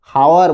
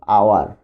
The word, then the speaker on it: hour: আওয়ার, H consonant, স্বাভাবিকভাবে সবার চিন্তায় আসবে এ বসাবো আমরা, কিন্তু এইচের উচ্চারণটা কিন্তু হচ্ছে না, সাউন্ডটা কিন্তু নাই, হাওয়ার বলছি না আমরা, কিন্তু আওয়ার।